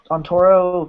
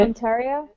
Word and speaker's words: Ontario: the it's uh on onoro Canada I think that's or am I saying that right because I think I really pretty much butchered it Ontario Ontario Canada yeah I think she's